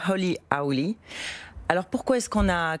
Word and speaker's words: Holy Owly: Rien que le nom, c'est un petit clin d'œil à la prononciation. C'est ça. Donc on dit Holy Holy.